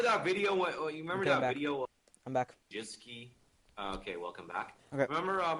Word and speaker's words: Wojcicki: Wojcicki. Not that hard. It's Wojcicki. Susan Wojcicki.